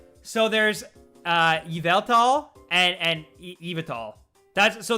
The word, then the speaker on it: Yveltal: in my gen six review i actually purposely pronounced it both ways uh all right so there's uh yveltal and and evital that's so there's both and